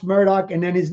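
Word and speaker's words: Murdaugh: I'm sorry sorry guys keep saying M but it's pronounced Murdoch and then his name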